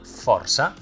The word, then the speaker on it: força: The ç is a modified letter, which is why it does not appear in the alphabet, and it is pronounced /s/. Like for example, "força".